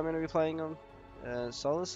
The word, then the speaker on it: Sulis: Sulis, I think it is. That's how you pronounce it. S-U-L-I-S.